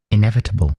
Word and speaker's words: inevitable: They're saying put the emphasis on the e at the beginning. So inevitable is what they're saying.